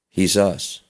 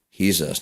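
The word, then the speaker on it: Jesús: Which is funny because if you pronounce Jesus's name with the H like the Mexican Hispanic people say he's us. Jesus. He's us.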